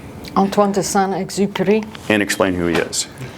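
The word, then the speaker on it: Antoine Exupéry: And I love this phrase, and I'll let Sam pronounce his name. Antoine Exuper.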